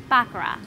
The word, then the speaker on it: baccarat: game is actually pronounced Baccarat yes the words rhyme with car rather than cat baccarat dates all the